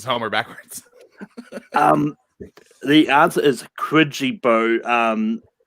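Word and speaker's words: Quijibo: I'm not sure if spelling counts on this, but I said Quizzibo. Brooklyn. I just put Homer. Jay. I put Remo, which is Homer backwards. The answer is Quidgibo.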